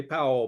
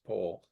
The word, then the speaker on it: Powell: pole it is pronounced pole yeah yeah uh yeah Americans would say Powell but um yeah it's it's poll uh I just want